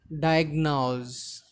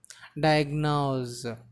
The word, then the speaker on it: diagnose: So the last word, that is diagnose. So here friends, we need to remember one thing. Here the last syllable is, it is not s, it should be pronounced as z. Diagnose.